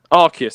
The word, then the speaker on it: Arceus: but anyway there you have it the Pokemon arus debate is over or archus I don't know how you pronounce it either archus or arus ar archus that's it how said at the start together